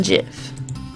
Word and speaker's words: GIF: team gifs yes gifts it's pronounced jiff I am sorry give